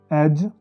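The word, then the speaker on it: edge: और आगे है डी, अगर ये जी के पहले आ जाए, डी जी, तो यहाँ डी साइलेंट होगा। जी की आवाज़ आएगी, एज, हैज।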